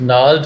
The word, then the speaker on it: gnarled: When swollen eye meets gnarled fist, और जब swollen eye, सूजी हुई आँख, gnarled fist, मुड़े हुए मुक्के को मिलती है, सो यहाँ पे जी साइलेंट है, मेक श्योर।